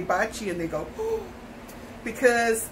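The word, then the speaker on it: Baci: juju bad luck and I have to tell no she's not named after that she's named BAC I which is kisses him in Italian she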